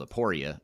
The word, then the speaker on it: Aporia: last name is hasten h-a-s-o-n and the company is spelled aporia a-p-o-r-i-a but what is the website address if